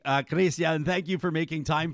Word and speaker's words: Chrystia: to call you ryan if you promise to call me oh i'll do my best to pronounce it correctly uh kristian thank you for making